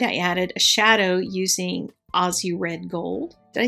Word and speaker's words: Aussie: Every time I say Aussie, I get comments. So there you go. It's spelled with two S's. Why is that? If you wanted it to be Z's, then it should be A-U-Z-Z-I-E.